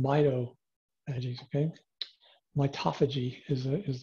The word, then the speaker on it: mitophagy: called mido energies okay mitophagy is a is the way that most of us would pronounce it autophagy uh mitophagy okay